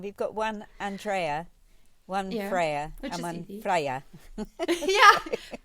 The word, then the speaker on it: Freya: Freya, you pronounce it in UK. We just learned. We just learned. Yes. Slightly confusing. We've got one Andrea, one Freya, and one easy.